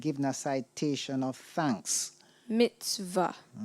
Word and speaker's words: mitzvah: a citation of thanks Mitzvah am I pronouncing the word correctly yes you are Mitzvah m i t